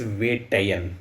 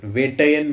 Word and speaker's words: Vettaiyan: How do I pronounce the name of this film? So the name of the film is Vettaiyan. Vettaiyan means hunter.